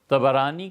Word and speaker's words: طبرانی: آئی ہے طبرانی میں۔ طبرانی کا اصل تلفظ یہی ہے، طا پر بھی زبر ہے، با پر بھی زبر ہے، طبرانی۔ طبرانی رحمۃ اللہ علیہ